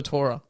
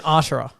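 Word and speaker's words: Artura: me okay hold on it's spelt a r t u art aura oh i thought you just meant torah like t-o-u-r-e-r no no no art aura art aura how would you say that yeah ura you really butchered it the first time sorry mclaren i'd take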